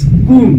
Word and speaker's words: comb: It is coom. Coom. Correct transcription for this word could be or would be comb, not comb. You already know it that B remains silent here, but still it is not comb.